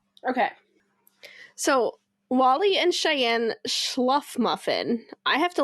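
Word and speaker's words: Shluffmuffin: I would go with Schluffmuffin. That sounds right.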